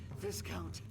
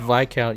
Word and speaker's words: Viscount: It was the Viscount. It's pronounced Viscount, you idiot.